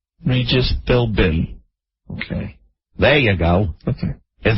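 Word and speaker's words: Philbin: many words in the English language the be is silent so the B is Sil but it turns into an M Filman you say Filman you're not even saying Fillin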